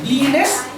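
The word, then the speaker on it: blinis: b l i n i s we write bleen b i l i n i s we write bleen that we pronounce Len it's a Russian pancake it is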